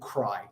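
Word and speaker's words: Crye: people buy for themselves, is a company called Cry. Now that's spelled C-R-Y-E, and it's actually a very, very expensive company to buy from.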